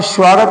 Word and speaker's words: स्वागत: क्या है स्वागत अब स्वागत में आपने तो देखो स्वागत स के बाद उ की आवाज आ स्व स्वागत है ना उ का उच्चारण हो रहा है लेकिन वहां उ नहीं है ठीक है ऐसे ही स्वभाव